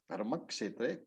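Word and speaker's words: धर्मक्षेत्रे: So Dharmakshetra, it is Kshetra. Dharmakshetra, Kurukshetra.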